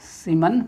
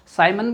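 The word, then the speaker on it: Siemens: सीमन पर metre, साइमन भी बोलते हैं, सीमन कुछ भी बोले, प्रोनाउंसिएशन सीमन पर मीटर ये रहेगा।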